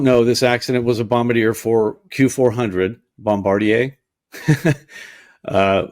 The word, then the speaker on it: Bombardier: Uh so, if you don't know, this accident was a bombardier for Q400 Bombardier. Uh how do you say it? Bombardier or Bombardier? Bombardier.